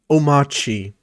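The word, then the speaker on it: Omarchy: All this just to test out Hyperland, which is why I installed Omachi. The R is silent.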